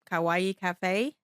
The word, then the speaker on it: Kawaii: My Instagram is Kawaii Cafe. You spell it exactly like Hawaii, just with a K 203, and that's my social media.